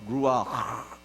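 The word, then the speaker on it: רוח: 강해 설 습니다 여러분 이게 히브리말로 재밌는 단어예요 루아 이렇게 돼요 발음이 가르침 발음이에요 한번 해보시겠어요 루네 가르침을 좀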